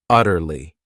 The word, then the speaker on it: utterly: This word has 3 syllables, and the stress is on that first syllable, utterly.